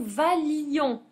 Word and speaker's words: valions: alors attention que nous valions on supprime le I et on supprime un L à la prononciation valion que vous valiez et qu'il